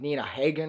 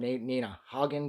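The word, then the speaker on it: Nina Hagen: Connor he he dated nah Hagen or n Nina Hogan depending on how you want to pronounce her name um he knew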